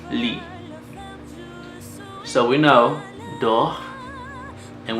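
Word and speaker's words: lis: So it will change, the verb will change to lit, just lit. And yeah, so lit. So it's L-I-S, and remember about the S, you don't pronounce it. Yeah, you don't pronounce the S. Lit.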